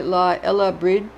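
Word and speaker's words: Lá Fhéile Bríde: Saint Brigid's Day, La Fele Brig, pronounced approximately La Ella Brid in Ireland, is 1st February, the eve of Imbolg.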